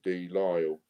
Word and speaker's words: Delisle: Daniel Delisle. You don't pronounce the S. Delisle? Okay. Yeah. So Delisle, French.